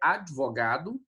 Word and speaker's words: advogado: O advogado é advogado, né? O D é mudo.